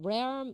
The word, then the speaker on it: realm: 발음 좀 어려운데요. realm이라는 발음은 잘 안 하고요. realm 이렇게 발음합니다.